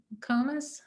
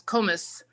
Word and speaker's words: Komis: okay we see um commas or sorry about your name pronunciation do you want to go ahead yes hi uh that's komis thomas thank you glad